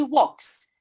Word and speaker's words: walks: By the way, guys, the verb to walk, the la, l is not pronounced. It is silent. We don't say she walks. We say she walks.